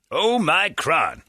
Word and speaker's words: omicron: okay omicron is okay the oxford dictionary that includes omicron oh my crown classical greek pronounced to the second syllable sounding like me or micron i'm not greek although